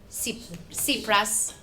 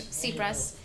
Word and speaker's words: Tsipras: I know this evening we'll hear from a candidate for the presidency of the European Commission, Alexis Tsipras. I've pronounced that correctly? Yes. Thank you. Tsipras.